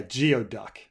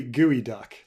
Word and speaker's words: geoduck: movies um yeah yeah geoduck gooey gooey duck Geo duck instead of instead of uh Kyo duck instead of instead of geoduck gooey gooey duck um rank the best